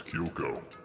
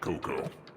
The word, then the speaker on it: Kyoko: you spell it right it's kyoko not coco boy this would be